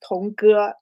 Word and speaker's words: Tong Ge: My name um pronounced as Tongu. The second one is a bit harder for English English speakers.